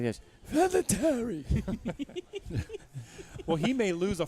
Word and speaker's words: Vinatieri: Vinatieri.